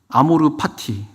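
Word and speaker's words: amor fati: 트로트 노래 제목이기도 하더라고요 아모르 파티 그게 아모르가 사랑해라 사랑하다 파티가 뭐죠 정확히 F 발음인데 삶 그러니까 삶을 사랑해라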